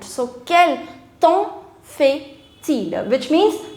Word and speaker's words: temps: For that you have an expression, quel temps fait-il? Quel temps fait-il? Quel temps? It's not temp, it's temps. Temps. MPS, all of them are silent. So, quel temps fait-il?